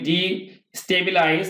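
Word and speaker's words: destabilize: এটা ডেস্টাবলিশ উচ্চারণটা হবে ডেস্টাবলাইজ মানে হচ্ছে অস্থিতিশীল করা, যদি আমরা এইভাবে বলি ডিস্টেবিলাইজ তাহলে উচ্চারণ ভুল হবে, আমরা বলবো ডেস্টাবলাইজ অস্থিতিশীল করা, অথবা বিষয়টাকে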